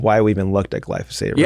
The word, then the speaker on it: glyphosate: Yeah, glyphosate. Yes. Glyphosate. Yeah, glyphosate. I've been saying it wrong.